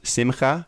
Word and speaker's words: Simcha: Yeah, if you add a C onto that, if it's Simcha, it would be pronounced Simcha.